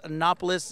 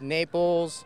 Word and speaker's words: Napoles: We're talking about the name Napoles. That's the pronunciation. Yes, sir. What other names have you been given in the past? I've been given Napoles, Naples. Some people call me Naps for short.